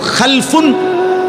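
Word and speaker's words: خَلَف: খালফুন আরেকটা হল খালাফুন একই শব্দ শুধু উচ্চারণের মধ্যে একটু ভিন্নতা মাঝখানে একটা লাম আছে। এই লামটার মধ্যে যদি সাকিন হয় তাইলে হল খালফুন। আর যদি লামের মধ্যে জবর হয় তাহলে হল খালাফুন।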